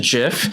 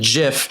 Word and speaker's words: GIF: he said it's pronounced GIF he literally had to put it's pronounced GIF J if F not GIF G well then why is